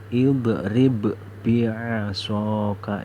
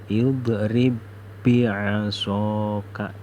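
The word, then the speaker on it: اضرب بعصاك: Bacanya itu yang ba yang pertama itu hilang, seperti idrib bi'asaka. Jadi tidak boleh dibaca idrib bi'asaka, itu tidak boleh, harus dibaca idrib bi'asaka.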